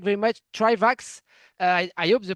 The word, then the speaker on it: Trivax: Trivax.